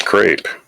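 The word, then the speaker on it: crêpe: ruined a sauce for crepes he was serving to Prince Edward of Wales it's pronounced crepe yeah crepe with no time to recover he it's in French it's crep he tasted the burn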